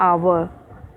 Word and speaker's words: hour: Then envelope, then oak, igloo, iron, hour. Why hour? Because here H is silent. Okay, H silent for है. ह से इसको नहीं पढ़ते हैं. इसको कैसे पढ़ते हैं? आवर.